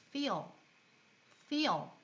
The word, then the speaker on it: feel: 그래서 이 feel을 발음할 때는 윗니를 입술에 붙인 채, 즉 윗니로 아랫입술을 살짝 깨무른 채로 feel 이렇게 발음을 합니다.